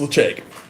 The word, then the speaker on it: Ledaig: my favorite expression of whiskey is Lecheg. Lecheg is Gaelic for safe haven. It's spelled Ledaig.